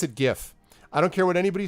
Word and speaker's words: GIF: as God intended alright gif he pronounced it - penguin you have to like go out of your way to mispronounce that though penguin it's not jiff that's peanut butter that is peanut butter